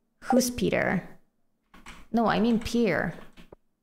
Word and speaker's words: Pierre: Peter no I mean Pier p p Pier that's how you pronounce his name isn't it Pier not Peter Pier this man Pierre oh Pierre yeah hola